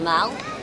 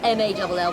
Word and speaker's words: Mall: This road here is called the Mall. It's spelled M-A-L-L, pronounced Mal, not Mall, but Mal.